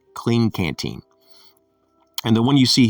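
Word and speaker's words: Klean Kanteen: is a brand called clean canteen and it's spelled with the k k-l-e-a-n and k-a-n-t-e-e-n clean canteen and the one you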